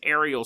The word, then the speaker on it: Ariel: On September 16th, in Ruwa, Zimbabwe, there was a school known as Ariel School. It was not aerial like planes, but Ariel as in the Little Mermaid is how it's spelled.